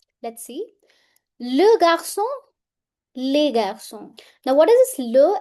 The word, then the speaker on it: garçons: That means the pronunciation will remain same whether it is singular or it is plural. Let's see. Le garçon les garçons.